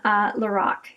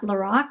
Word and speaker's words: Lorac: And then this is the mint palette from Lorac. And then I have a couple of Smashbox singles down here, but the majority of this palette is Lorac or Lorac, depending on how you say it.